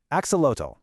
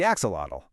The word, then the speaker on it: axolotl: You might even know a word from it, axolotl, the axolotl. But fun fact, you're probably saying it wrong. That TL sound is actually a soft T. It's more like axolot.